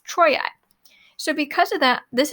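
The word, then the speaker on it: Troiae: something called a diphthong a diphthong are two vowels squished together to make one sound so this is actually pronounced troi now and notice how i didn't say tro e-r-a it's troye so because of that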